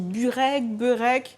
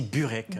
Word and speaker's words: burek: Alors dis-moi, on dit bureg, ? On dit burek.